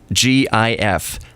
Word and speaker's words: GIF: dinner transformer Matt and it's a hard G in graphics so it's gif but what do you